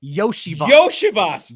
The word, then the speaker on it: Iosivas: The way he told media to pronounce it, because it's the same thing that happened with Devon Achane, and is that their college media guides, for whatever reason, just never corrected the pronunciation. So it's actually Andre Yoshivas. Would not have gotten that in 100 guesses.